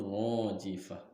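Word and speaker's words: الراجفة: Huruf ra-nya dibacanya adalah tafhim, yaitu tebal. Rajifah.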